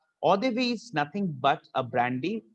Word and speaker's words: eau de vie: It's not ox de vie, it's eau de vie. Eau de vie is nothing but a